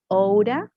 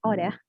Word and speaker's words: ought to: in the case of oughta or ought to, right? Oughta is the pronunciation, oughta.